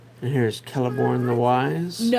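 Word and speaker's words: Celeborn: Is this Kelliborn or Celiborn? And I think in my youth I pronounced it the wrong way and now I don't remember which way it was the right way. So there we go. I think it's supposed to be Kelliborn. And I always pronounced it celiborn.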